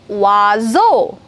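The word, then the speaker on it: oiseau: O-I, wa. For example, wazo. Wazo.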